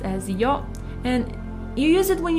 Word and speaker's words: よ: It's pronounced as yo, and you use it when you're telling someone something that they weren't aware of.